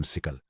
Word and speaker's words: SYCL: इस सेक्शन में हम सिकल, जिसे सिकली प्रोनाउंस किया जाता है, की दुनिया में कदम रखेंगे, जो क्रोनोस ग्रुप द्वारा मेंटेन किया जाने वाला एक ओपन रॉयल्टी फ्री स्टैंडर्ड है।